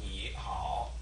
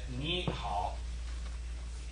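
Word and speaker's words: 你好: Both of those are third tone, which is ni, falling, rising. Ni hao. But when you're actually pronouncing it, you don't say ni hao. You say ni hao. So the second one gets changed, and that's essentially a sound change roll.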